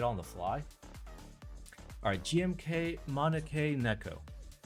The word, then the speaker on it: Maneki Neko: Alright, GMK Maneki Neko. Maneki Neko? I don't fucking know how to pronounce it. Okay, so I said it right the first time.